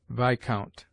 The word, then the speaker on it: viscount: S is mute in isle, island, domain, viscount.